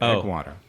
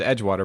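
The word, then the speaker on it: Egwater: you're headed toward egg egg water just one g but egg water okay yeah some people pronounce it edge water but you don't have to you know that's a regional thing so what's happening is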